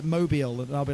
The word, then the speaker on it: Mobile: Hardcore Holly's from Mobile. Don't get me wrong I hate the pronunciation. It's spelled mobile like mobile phone but you know.